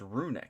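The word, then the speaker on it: Runick: got run rick slumber or it's rooney it's not run rec i've just been saying it wrong the whole time trap trick we've got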